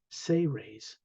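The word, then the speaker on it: Seres: of the most ancient say raise race thus the title The say Ray's agenda s-e-r-e-s but it's pronounced as if it was spelled s-a-y hyphen r-a-y-s say raise they were responsible for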